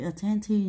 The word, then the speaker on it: attentive: Thì attentive này nó cũng chẳng làm thay đổi âm nhấn của từ ten ha.